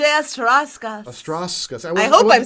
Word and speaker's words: Ostrowskis: I wasn't giving it the English, the Ostrowskis. I need to give that S an extra bit of love.